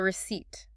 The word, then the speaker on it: receipt: Look at the word receipt. Receipt t. Okay. It has a silent p. It has a weird vowel sound. Receipt. It's very easy to mispronounce.